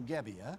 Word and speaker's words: Gibbia: the last one and I'm hoping I pronounced it correctly. Joe Gibbia. Yeah.